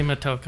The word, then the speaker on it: Motoko: Yeah, it's actually Motoko. I said it wrong earlier.